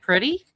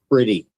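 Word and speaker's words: Pretti: Well, how do you say it? Pretty? Pretty. Yeah. It looks like Parietti.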